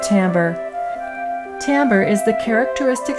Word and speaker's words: timbre: is an interesting word it looks like the word Timber but it's pronounced Timbre Timbre is the characteristic